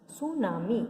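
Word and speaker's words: tsunami: सुनामी pronounced सुनामी, इसे हम सुनामी कहते हैं जहाँ पे टी जो होता है वो साइलेंट होता है.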